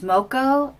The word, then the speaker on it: Smoko: I think it's pronounced Smoko, S-M-O-K-O, now, all one word.